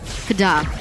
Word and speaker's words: KDA: So you're saying it wrong. The Kada machine. Kada. Kada. There you go. You got it.